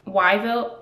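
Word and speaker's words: Wyvil: little moment jesper's like oh i want to call it wyvel like weevil but spelled with w-y-v-i-l for wylin and wylan says it's terrible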